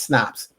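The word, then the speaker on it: Snopes: and snaps which people tend to think is pronounced snoop sometimes but there's only one s one o s n o p s e s snaps so that's what i use for my fact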